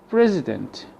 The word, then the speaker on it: president: to the British one president president the I here is replaced by the Schwab police police police not